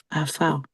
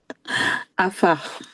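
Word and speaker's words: עפר: Afar, rien à voir. Afar.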